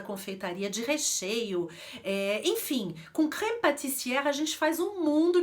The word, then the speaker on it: crème pâtissière: O E, então, é E. Mas ali a gente tem um acento grave. E o acento grave, ele abre a pronúncia do E. Então eu não vou falar crème pâtissière, até difícil de pronunciar. Com o acentozinho eu vou abrir o E, por isso que a pronúncia é crème pâtissière.